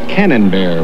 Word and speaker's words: Camembert: Well, your name is spelled Camembert with an M, as in Mary. But it's pronounced Cannonbear with an N, as in Norman.